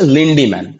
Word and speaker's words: লিন্ডম্যান: বিজ্ঞানীর নাম হচ্ছে লিন্ডম্যান। কি না? বিজ্ঞানীর নাম হচ্ছে লিন্ডম্যান, কিন্তু এটাকে একটু বানানটা, ইংরেজি বানানটা দেখে নেবে, কথাটা হচ্ছে লিন্ডিম্যান।